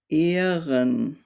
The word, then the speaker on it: Ehren: The H normally prolongs the vowel. So we have words like Bohne, Sahne, Ehren.